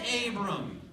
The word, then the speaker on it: Abram: he has a cane his name rhymes with flay blam it's abram that doesn't quite rhyme but anyways god promises